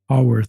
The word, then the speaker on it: Haworth: And tell us how to pronounce that. Make sure we did it right. Hawworth. Hawworth.